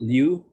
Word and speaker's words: Liu: Is that how you say it? Is it Liu? Yes.